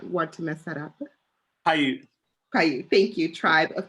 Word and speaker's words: Paiute: if I'm mispronouncing this, Paiute, Charlie, can you pronounce that for us? I do not want to mess that up. Paiute.